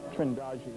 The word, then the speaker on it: Trindade: And here's a sequence from Trindade, Trindade, I'm told it's pronounced, 600 miles east of the coast of Brazil.